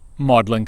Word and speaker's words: Magdalene: garbled the original meaning if you were to ask CS Lewis where he taught he would say maudlin college but his resume would say that he Magdalene College yes Mary Magdalene's name has been pronounced and spelled maudlin at least since the time of Wickliffe but why would her